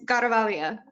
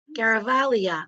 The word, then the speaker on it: Garavaglia: all tried and it's godavalia or garavalia the second g is silent but oh like in lasagna right I'm awesome yeah garavalia oh all right okay